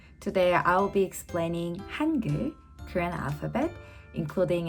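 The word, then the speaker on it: 한글: So, since Hangul is pronounced as two-syllable, Han and Gul, so which means we need two syllable boxes, right?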